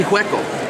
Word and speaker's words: Hueco: you know yeah but they're insisting that we call it waco mundo waco is a town in texas you know why it should be hueco why not i don't